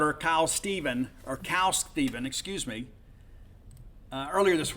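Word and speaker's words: Khal: you know Cal and it's spelled k-h-a-l but it's not Kyle or call it's cow he was their best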